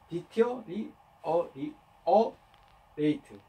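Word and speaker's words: deteriorate: 이렇게 AT로 끝나는 발음은 앞에 이렇게 오잖아요. 그죠? 액센트가요. 디티어리 어리에이트.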